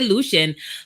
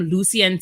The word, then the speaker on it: Lucian: Lucian name is, well, we say Lucian, but it can most people most people pronounce it. His teachers call him Lucien too.